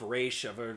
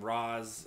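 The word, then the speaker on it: Ra's: up by the way they pronounced his name so many different ways on the show i've heard him call himself race other people call him roz it's very confusing now i'm on dcuo what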